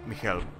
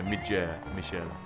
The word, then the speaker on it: Michel: Michael. am I pronouncing that? It's with the G, so Michel.